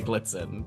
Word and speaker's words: Iglitzin: I mean, I honestly don't really know how it's supposed to be pronounced, but I just say Iglitzin.